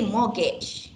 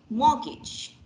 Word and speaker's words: mortgage: okay so mortgage mortgage you don't say mortgage yeah you say mortgage got it all right t is silent yeah next um do